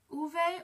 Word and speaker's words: uve: And then V does not have like the tough V sound. It's like a B. Kind of like you're pronouncing a B. And yeah, V's are kind of complicated. They can be like V or like B. So it would be pronounced as Uve or B.